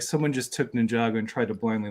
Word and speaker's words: Ninjago: I'm like, "What is this Ninja Go?" And he's like, "It's Ninjago." Ninjago.